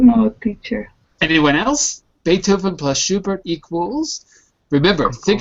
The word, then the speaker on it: Beethoven: Uh, and uh Oh, in English we'll say in English we're going to pronounce it a little differently. Beethoven. Beethoven.